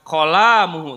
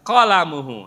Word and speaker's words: qalamuhu: Jangan qalamuhu, enggak boleh la-nya enggak boleh tekan, tapi qalamuhu.